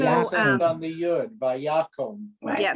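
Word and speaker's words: ויקם: So kom, this is a closed, it ends with a consonant, closed, unaccented syllable. So it's vayakom. If the accent was on the last syllable, it would be vayakam. But it's vayakom.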